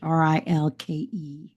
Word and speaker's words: Rilke: I think that's how you pronounce it, Rilke.